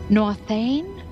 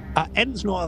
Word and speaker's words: Ensnor: Nor Thane? Ensnor Thane. What? Ensnor? How do you spell it? E-N-S-N-O-R, Ensnor Thane.